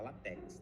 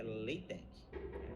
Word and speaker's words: LaTeX: Tem gente que tem vontade de falar latex, né? Latex, mas a verdade é que a pronúncia correta é leite ou latec.